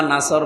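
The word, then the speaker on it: نصر: এখানে সোয়াদ মুখ দল করে উচ্চারণ করা লাগবে। সোয়াদকে সিন দিয়ে বললে অর্থটা আকাশ পাতাল পাল্টিয়ে যাচ্ছে।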